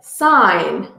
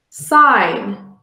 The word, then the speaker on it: sign: going to look at the silent g g is not pronounced when it comes before an N this can be seen in in words such as sign sign the sign in the